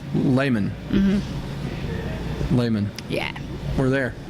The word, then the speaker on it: Lehman: Okay, so everybody now, it's Lehman.